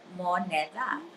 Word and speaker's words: Moneda: phonetically spelled moneda. Yeah. But he says So that's come menudo. What'd you on, that's say? come on, guys. We call monida.